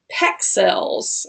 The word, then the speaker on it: Pexels: It's called Pexels. I think that's how you say it. It's like pixels, but with a E, right?